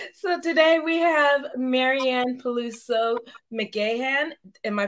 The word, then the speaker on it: Peluso McGahan: hello hi everyone so today we have Maryanne paluso McAn am I pronouncing that right it's perfect good and uh